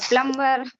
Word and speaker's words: plumber: combination of the consonant sound m like yeah plumber plumber it is plumber plumber B sound drop